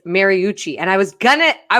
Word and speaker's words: Mariucci: really appreciate you helping me learn how to pronounce people's names it's mariucci and i was gonna i was getting really